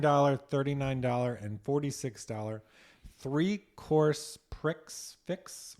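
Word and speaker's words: prix fixe: and $46 three course pricks fix or price fix. Probably price fix. Price fix, but they spell it with an X.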